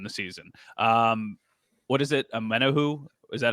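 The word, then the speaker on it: Omenihu: Amenahu?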